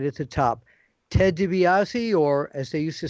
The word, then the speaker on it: DiBiase: And then I'm not sure how Mid-South did it, but I know the DiBiase is the correct pronunciation.